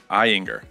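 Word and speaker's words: Ayinger: Pronounced Eyinger.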